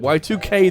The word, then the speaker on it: YIIK: I'm trusting that's how you pronounce it, you know, I have called it YIIK in the past and people told me it was wrong, so whatever, I'll call it Y2K this time.